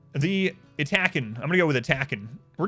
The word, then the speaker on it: Yttakin: Yttakin. To me, they're attacking. They're attacking. Pronounced roughly as Yttakin. Yttakin. Yttakin. Yttakin. There it is. Pronounced roughly as attacking. No.